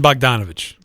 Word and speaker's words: Bogdanovich: you say is it bonovich or yeah bdon bogdanovich come on come on guys bonovich I'm going